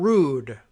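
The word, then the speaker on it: Rood: familiar with the matter John rude a good name for the Trump administration really but it's spelled are ood he is Undersecretary of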